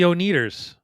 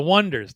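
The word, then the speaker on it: Oneders: So that's the Oneaters. Wait, Yep. did I mispronounce that? Oh, the Wonders.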